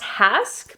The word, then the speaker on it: Hask: it is pronounced Hask, but this is the Argan Oil Repairing 5-in-1 Leave-In Spray.